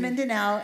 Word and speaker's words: Mindanao: okay so specifically right now she's aware in mindana now is that how you say it yes you say better than me she's in Mindanao and she is this week doing training for